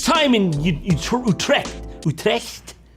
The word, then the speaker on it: Utrecht: Trek for God's sake how do you say it no it's not bad Utrecht that's it that's the one that's the official pronunciation sorry Netherlands gonna have